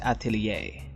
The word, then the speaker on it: Atelier: 2 by good smile company I think it's pronounced Atelier this figure is a summer theme so we